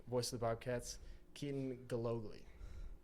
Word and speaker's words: Gillogly: And then our special guest this week, voice of the Bobcats, Keaton Gillogly.